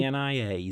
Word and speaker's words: Xenia: Xenia, am I pronouncing that correctly? Xenia, Xenia, and yes. It's 2 syllables, not 3.